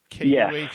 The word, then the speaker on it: Kuhl: Kuhl?